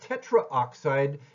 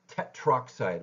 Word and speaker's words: tetroxide: using Tetra with it it's not tetraoxide it's just tetroxide we get that uh we get that contraction so in this case